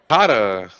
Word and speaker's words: COTA: And then followed by COTA. That's COTA, not COTA. Anyone who pronounces it COTA is wrong.